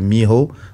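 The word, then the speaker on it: Mijo: En fait, c'est lui qui a créé le crump avec un autre gars qui s'appelle Miho. Enfin, ça s'écrit M-I-J-O.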